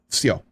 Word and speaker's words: Все: Spell it in English letters, V-S-Y-O, "Все."